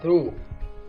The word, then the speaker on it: through: so the world is through we have two silent letters here G and H very good now let's